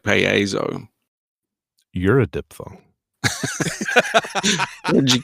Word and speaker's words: Paizo: But it seems that most people nowadays just pronounce it Paizo. So you're saying it's a diphthong, like Paizo.